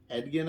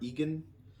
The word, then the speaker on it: Edgin: movie coming up of edgon I think that's how you pronounce his name or Egan e-d-g-i-n-e-d yeah and but he's being